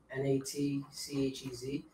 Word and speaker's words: Natchez: Army captured them and put them in some type of camp at, I don't know how to pronounce this, Natchez, N-A-T-C-H-E-Z.